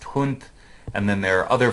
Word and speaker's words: Hund: So in German, the word for dog is spelled H-U-N-D, but is pronounced Hund.